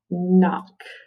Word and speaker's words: knock: can get it right let's count the sounds in knock uh i want you to see if you can get it knock all right um is spelled with k n ah is spelled with o and says that o is short and we have at the end we use ck okay and ock if